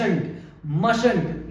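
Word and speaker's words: mustn't: बोलते हैं मश मंट इसको हम प्रोनाउंस करते हैं बच्चों मंट यहां टी जो है ये साइलेंट हो जाएगा और एक टी को हम प्रोनाउंस करेंगे तो ये होगा मंट इसे हम मंट नहीं बोलते बच्चों ये होता है मंट अब हम देखेंगे एमवी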